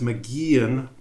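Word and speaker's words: McGeachin: That's McGeehan. The CH is silent, I guess.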